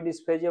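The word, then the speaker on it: dysphasia: इसका प्रोनाउंसिएशन लगभग सेम ही रहता है। इसको भी डिस्फेजिया बोलते हैं।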